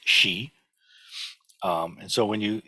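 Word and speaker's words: 時: for time or when or while and it's pronounced she um and so when you this is uh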